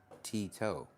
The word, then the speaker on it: Tito: You pronounce my new user wrong. It's Tito. I said Tito, but like a bit faster.